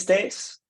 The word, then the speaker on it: Stace: with varnish controller 5.0 my name is Stace yes that's how you pronounce that and our work for